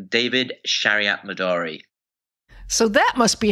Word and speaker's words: David Shariatmadari: me sure thanks for having me ginger I pronounce my name David Shariat Midori so that must be how you got interested